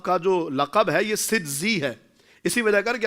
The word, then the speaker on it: سجزی: تک پہنچ جائے اور وہ ظاہر سنجری بولنے سے بھی پہنچ جائے گا. لیکن اصل تلفظ جو ہے وہ سجزی ہے کہ آپ سجستان کے رہنے والے تھے.